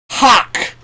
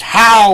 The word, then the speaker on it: hough: the word is spelled g h-o-u-g-h and is pronounced hawk like ham hocks i might say that's a weird thing for me to say considering you know it looks like it should be pronounced how or huff in fact i thought